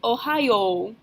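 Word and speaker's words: おはよう: the informal version is Ohio Ohio even though it's spelled with a y.o.u at the end we're still going to pronounce it like it's just an O sound Ohio you'll also notice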